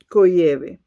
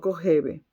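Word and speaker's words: Kojève: Coyeb escribe K o J E V V V E, pero se pronuncia cove, no covebe.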